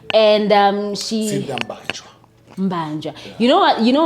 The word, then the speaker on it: Mbanjwa: And she Mbanja. You know what? You know why I'm avoiding saying her surname is because of you kept on saying Bingwa on the previous.